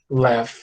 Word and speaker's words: laugh: É uma palavra estranha, a gente tem um GH aqui, mas esse GH tem som de F, tá? A gente fala assim, ó, laugh, tá bom?